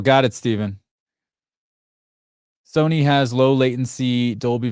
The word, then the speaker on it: Stephen: Pronounce Stephen like the Bible. Got it, Stephen.